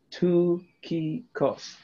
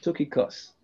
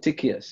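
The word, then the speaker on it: Tychicus: top here we have we have um it's pronounced two key costs took a cuss i used to call it tickias all right um his role paul calls him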